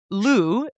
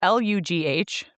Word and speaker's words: Lugh: So, now moving on to, Lu, it's pronounced, spelled Lugh, but pronounced Lu, known as oh, no, I didn't look up the second word.